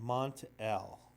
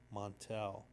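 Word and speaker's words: Mon-El: Brainiac 5, Element Lad, Princess Projectra, Karate Kid, and Mont-El. I think sometimes I tend to pronounce his name Montel, but Mont-El.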